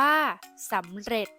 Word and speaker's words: สำเร็จ: ตัว สะกด แม่ กด ที่ มี จ จาน เป็น ตัว สะกด ออก เสียง เป็น เสียง ด เด็ก ได้ แก่ คำ ว่า ตำรวจ อ่าน ว่า ตำรวจ สำเร็จ อ่าน ว่า สำเร็จ ขี้ เกียจ อ่าน ว่า